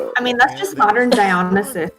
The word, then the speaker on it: Dionysus: Dionysus, thank you. You I can always put have the that. emphasis on whatever syllable you want.